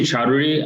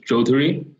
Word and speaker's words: Chowdhury: So yeah, you could say Chowdhury. Another way to say it is Chowdhury. Chowdhury. Two very popular ways, yes.